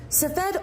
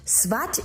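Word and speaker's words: Tzfat: Safed, or actually properly pronounced Svat Israel, is located nowhere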